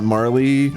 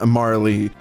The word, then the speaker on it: Marle: So I loved the Chrono Marley or Marl. I don't know how to pronounce her name. It's Marley. It's Marley.